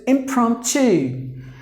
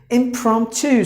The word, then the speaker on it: impromptu: There are 3 syllables in this word, and the second syllable is given more volume. Impromptu. Impromptu. The TU should be like here. You see that? TU should be pronounced like this. Impromptu. Like CHU.